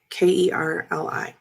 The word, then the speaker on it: Kerli: Kerli.